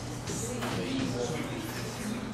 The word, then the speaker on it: suite: It's the same pronunciation as suite.